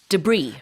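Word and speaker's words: debris: was struck by this debr debr right debr is scattered pieces of waste or remains음 그래요 d e b r s이지만이 불어에서 온 표현이고 이거 S 발음하지 않습니다 그래서 debr 아니고 de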